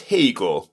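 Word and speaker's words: Haigha: happy his name is Hagar he pronounced it to rhyme with mayor I love my love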